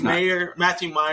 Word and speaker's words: Mayer: Matthew Meyer, I always do that. It's spelled Mayer, but it's Meyer. Yeah, I have to think like John Mayer. No, it's Matthew Meyer.